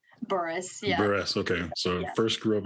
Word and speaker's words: Burress: you before we started is your last name pronounced beerus or is it Burris Boris yeah okay so first